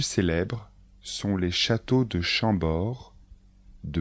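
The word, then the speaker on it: Chambord: châteaux les plus célèbres sont les châteaux de chambor de Blois de chenonau et le château de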